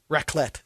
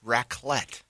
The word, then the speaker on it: Raclette: Raclette. Raclette.